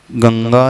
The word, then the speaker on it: गंगा: होते हैं कि अब अनुस्वार के पश्चात यदि क वर्ग का व्यंजन आएगा थिंक व्हाय खड़ा है गायघाट आएंगे जाए तो कौन सा अनुसार किस रूप में उच्चारण किया जाएगा क वर्ग का पंचम